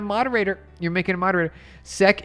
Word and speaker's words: SEK: Sec is the pronunciation, but I don't mind.